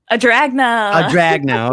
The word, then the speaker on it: Adragna: Now, Tom told me how to pronounce it last night in the sports edition. It's okay. Adragna.